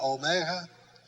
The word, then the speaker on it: omega: calling the cat remember and then omega omega long o as in note remember jesus said i